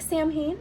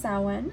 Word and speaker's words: Samhain: It looks like Samhain, but it's actually pronounced Samhain.